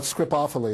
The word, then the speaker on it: Scripophily: how you say it well script awfully is the way you pronounce it i stand all these